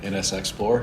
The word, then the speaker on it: NSXplore: NSXplore.